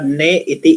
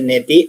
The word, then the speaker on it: नेति: नेति को जो हमने पढ़ा था ने इति इति करके बोलते हैं। इसका जो प्रोनाउंस है नेति और इसमें देखो आप सभी को पता है कैसे करना है।